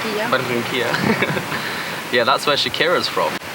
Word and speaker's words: Barranquilla: Barranquilla, ¿cómo se dice? Barranquilla.